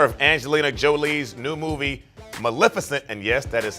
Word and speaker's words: Maleficent: doug in honor of angelina jolie's new movie maleficent and yes that is how it's pronounced we take a look at some of